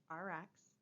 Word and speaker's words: Rx: It is RX, and we usually pronounce it just RX.